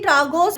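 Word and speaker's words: Tragus: तो अभी बोलूंगी मैं ट्रागोस प्रेसिंग की एक्सपीरियंस।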